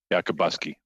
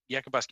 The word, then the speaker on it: Yakabuski: Yakabuski. Yakabuski. I apologize. I am the worst for pronouncing names, so I will butcher that a few times, I'm sure, today.